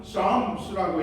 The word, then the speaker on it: Psalms: 시편을 영어로는 Psalms라고 얘기를 해요. P가 들어가지만 앞에 P자는 묵음이에요. 그렇지만 Psalms라고 하잖아요.